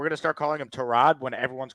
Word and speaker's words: Tyrod: time that he told people that it's actually pronounced Trod and not Tyrod. The problem is he had already played 10 years in the league with everyone saying his name was Tyrod. So, no one calls him Trod.